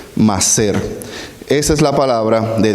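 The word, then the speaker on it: מעשר: estilo de vida para ellos diezmo en hebreo más ser se escribe m a a s e r más ser esa es la palabra de diezmo en hebreo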